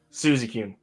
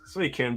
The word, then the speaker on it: Suicune: I always want to say Suzy-kun for some, because when I was a kid, I always struggled with pronouncing the name. It just stuck. But now I know as an adult, it's Suicune.